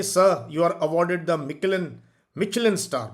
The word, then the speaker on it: Michelin: Ikra, hey sir, you are awarded the Michelin star. Michelin is the correct pronunciation.